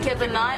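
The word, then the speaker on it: kibinai: Kebanai.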